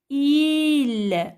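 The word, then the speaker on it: ils: Alors, parce qu'on a deux garçons, Karim et Farid, il, avec S et le S ne se prononce pas, elle est muet.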